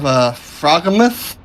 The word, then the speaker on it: Froghemoth: I did not look it up to see, but the way it's spelled is FROGHEMOTH. Like frog, he moth. So, I'm thinking like a giant frog, maybe? Well, I'm thinking like a frog. Like instead of behemoth?